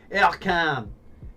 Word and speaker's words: Ercan: Ercan.